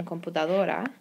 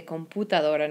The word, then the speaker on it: computadora: la computadora now remember with use like you're gonna see right here in computadora you're used to saying you but in Spanish it's just ooh okay so I hear a lot of mispronunciation with computer Laura we want to make sure that we say computadora not computadora so it's computadora alright printer is la